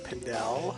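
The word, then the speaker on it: Pindell: would be you Mr pendel James James pendel pendel I I I always say pindel I always say pindel too is it pindle pindle he pronounces it pindle I think so okay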